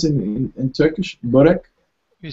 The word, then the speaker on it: börek: How do you pronounce it in Turkish? Börek?